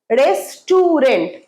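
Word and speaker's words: restaurant: রেস্টুরেন্ট। আমি আজ রেস্টুরেন্টে যাব। কোন রেস্টুরেন্টের কথা বলছিস? রেস্টুরেন্ট।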